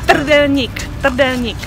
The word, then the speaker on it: Trdelník: ¿Cómo se pronuncia? Trdelník.